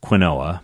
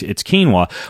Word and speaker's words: quinoa: And you've no doubt heard of quinoa before, which I used to pronounce quinoa before I realized that there actually is a more traditional way to pronounce quinoa, but ultimately it's quinoa.